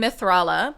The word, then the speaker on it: Mithrala: That's her name, Mithrala. They say it right here.